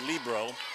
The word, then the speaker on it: libero: a libro and it's a lot of people pronounce it libero but it's libro l-i-b-e-r-o or i-e-r-o and they're